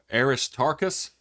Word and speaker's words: Aristarchus: Everyone rushed to the amphitheater, dragging along Gaius, and I'm going to try to pronounce this right. I believe it is Aristarchus, who were Paul's traveling companions from Macedonia.